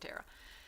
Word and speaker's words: Thera: Like, because I have a friend named Tara who spells it Thera, and so there's a building over by Card Kingdom that is Thera Tech. I don't know if they pronounce it Thera or Tara. She pronounces it Tara.